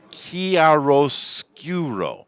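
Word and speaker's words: chiaroscuro: go with that judge Allah says it's pronounced chiaro-scuro well thank you John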